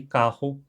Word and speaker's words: carro: Um clássico exemplo de contraste entre os dois são com as palavras caro, com R fraco, e carro, com R forte.